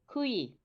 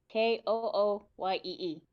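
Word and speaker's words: cuyir: So the word for is Kooyee. Kooyee. Is that the pronunciation or the actual spelling? Yeah, that's the pronunciation. Okay. It's spelled C-U-Y-I. So that's why I thought it was going to be basically spelled. Kuyir, just without the R on the end.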